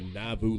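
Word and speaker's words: Nauvoo: Mormons Army was called the navu legion probably not pronouncing that right n-a-u-v-o-o now I mean how else would you pronounce it uh but the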